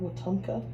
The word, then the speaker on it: Wetumpka: So which part of Alabama is that Wetumpka?